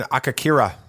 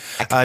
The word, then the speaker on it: Akakiri: All right, episode 7, Akakira. That's how I'm going to pronounce it. I think it's Kiri. Akakiri? Okay. Yeah. Akakiri.